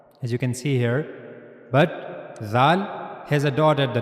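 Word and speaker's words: ذ: Zal just use your tip of your tongue and then connect it to the edges of the two top front teeth. And that's how you can easily pronounce zal. And also remember one thing the sound of zal will be soft. Zal zal. So this is the origin of pronouncing zal.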